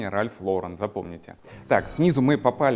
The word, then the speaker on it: Ralph Lauren: They say Ralph Loran or Ralph Loren. In fact, the correct pronunciation is Ralph Lauren, remember.